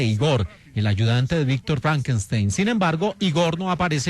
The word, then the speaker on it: Frankenstein: Y aquí la pronunciación errónea del nombre Frankenstein como Franchstein es una alusión a la película de la cual hablábamos en nuestro especial, el joven Frankenstein de 1974.